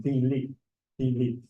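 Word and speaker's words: 比例: And in Chinese, that's pronounced bi li.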